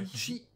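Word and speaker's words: 羊: Attention à la prononciation, c'est bien hitsuji. Hitsuji. Hitsuji, avec un H au début.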